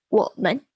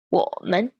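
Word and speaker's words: 我们: Next up, we have 我们. 我们. 我们. So this is in the third and second tone, and this means we or us.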